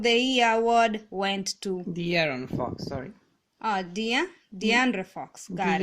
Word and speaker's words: De'Aaron: I said DeAndre. Sorry, DeAndre. Sorry, guys. It's De'Aaron. Okay, now is this you playing with me or Oh, you keep saying DeAndre. It's De'Aaron.